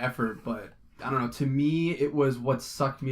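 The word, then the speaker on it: Thom: soundtrack is or tom is it Tom or thong I just said it's spelt thumb but it's pronounced Tom it is Tom well Tom York holy this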